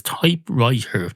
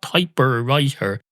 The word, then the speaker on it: typewriter: up to think that it was typewriter not typer writer and if I heard